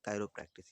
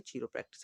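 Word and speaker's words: chiropractic: कायरो प्रैक्टिस या फिर चीरो प्रैक्टिस आप लोग कह सकते हैं, लेकिन सही प्रोनाउंसिएशन है कायरो प्रैक्टिस।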